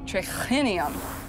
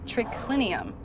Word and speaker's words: triclinium: trichlinium is spelled t-r-i-c-l-i-n-u-m in latin it's spelled as it sounds but here triclinium has an h in it so it would be pronounced trichlenium instead of triclinium a latin speaker from